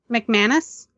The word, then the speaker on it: McManus: McManus?